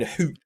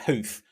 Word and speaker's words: Huth: The commentator keeps saying Hoot as well instead of Huth, but I'm going to stick with Huth since I called Robert Huth, and it's his sister, so.